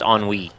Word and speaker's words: ennui: Apparently it's pronounced ennui.